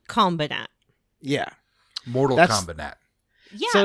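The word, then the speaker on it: Kombinat: I thought you were mispronouncing combat at first, but It's actually called Combinat.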